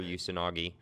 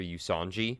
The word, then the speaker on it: Usanagi: I used to pronounce her name wrong, and I used to say Dr. Usanji, which is what it kind of looked like to me, but I know how to pronounce her name now.